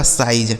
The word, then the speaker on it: size: SIZE, एस से हो गया दोस्तों स, इस आई का उच्चारण आई हो गया और जेड ई से क्या बनेगा ज, यह लिखा गया आपका साइज, ठीक है ना, इसे पढ़ा जाएगा साइज।